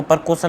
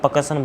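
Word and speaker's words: percussion: पी ई आर सी U double S आई ओ एन पकसन इसको प्रकुशन नहीं बोला जाएगा। पकसन बोला जाएगा।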